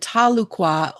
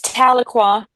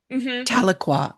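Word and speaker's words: Tahlequah: artist and performer from the Cherokee Nation and Talqua, Oklahoma. Did I pronounce that right, Kate? Yeah, it's Taloqua. Taloqua.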